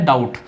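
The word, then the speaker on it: doubt: उसके बाद है डाउट, इसमें बी जो है वो साइलेंट रहता है, डब नहीं होता है ना डाउट होता है, डाउट होता है इस तरीके से डाउट, डाउट।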